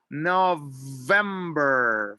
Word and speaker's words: November: Remember, when you're pronouncing, remember to make sure that you put your top teeth with your bottom lip for the V. November for the letter B here.